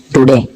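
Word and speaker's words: Daudet: author है Alphons अल्फ टुडे इसमें T silent रहता है याद रख तो स्टोरी स्टार्ट होने से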